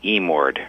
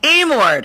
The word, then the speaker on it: Emord: It's a long E, Emord. It's Emord.